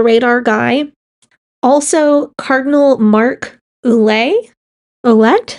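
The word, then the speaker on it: Ouellet: It is ule. Okay. Yeah, the T is silent unless there's a vowel after it.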